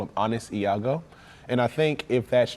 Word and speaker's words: Iago: Okay, so you play Ego. Am I saying it right? Iago. Iago. Okay, there we go.